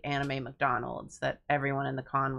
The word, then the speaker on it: McDonald's: the way you pronounce McDonald's C what do I say is that another thing I say weird I thought it was normal mcdonal why it's McDonald mc mc McDonald McDonald's